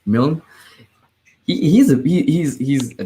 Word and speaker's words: Milne: his name okay yeah i've been saying mullane i was like that does not seem right at all milne he's a he's he's